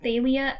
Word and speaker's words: Thalia: okay where he said that talia's name was pronounced thalia i'm never ever pronouncing it that way because